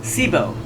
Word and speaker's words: Sybo: And her name is pronounced Sibo, but she really shouldn't say that on public TV.